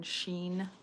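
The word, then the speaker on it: xin: okay the heart Shen you could spell that s hen uh the Chinese pinion spelling is x i n Sheen okay so let's talk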